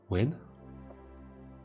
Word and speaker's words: Nguyen: Win? Why are we saying win? Oh, that's how it's pronounced.